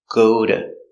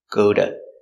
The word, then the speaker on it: go to: go to school pronunciation the t is between two vowels so we pronounce it as a D sound like a d go to go to and not ooh like